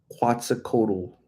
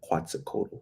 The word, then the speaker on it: Quetzalcoatl: Alira Quetzalcoatl. I think that's how you say it, right? I think I pronounce it pretty good, huh? Quetzalcoatl, right?